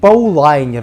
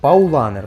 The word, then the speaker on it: Paulaner: розумієш да не кажіть паулайer не кажіть паулайer паунеer паулаaner Отак правильно е ми сьогодні з ліночкою